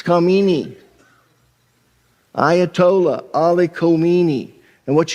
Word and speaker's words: Khamenei: Some are pronouncing him Khamenei, some Amini, some Khamenei. It's Khamenei.